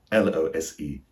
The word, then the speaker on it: lose: Notice that the S is voiced. That means it sounds more like a Z sound.